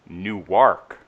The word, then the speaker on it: Newark: on is the pronunciation of the word Newark so in Jersey its Newark and it's like it's all one no snow syllables on York in Delaware it's new work not only is there two syllables but it's like you work I don't know where